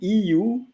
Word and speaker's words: eu: And so the sound EU is the sound of the letter U.